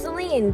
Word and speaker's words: Saline: be talking about is Celine that's spelled s-a-l-i-n-e it's pronounced Celine but it's actually but